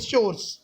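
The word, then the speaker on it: chores: कोर्स to finish देखो कुछ teacher इसको चोरस प्रोनाउंस करते हैं कुछ कोर्स बोलते हैं ठीक है तो जैसा कोर्स तो नहीं कहते हैं सीओ यू आर एससी कोर्स होता है इटस शोर्स सो उसकी मम्मी ने कहा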